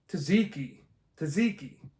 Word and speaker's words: tzatziki: Tzatziki. Tzatziki sauce. Hey, all right. Tzatziki sauce. Can you hear that? Tzatziki sauce.